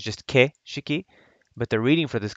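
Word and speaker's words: 景色: kishiki is actually pronounced it's not pronounced keishiki it's pronounced keshiki so i thought it was really interesting that if i write this out keishiki that's not really the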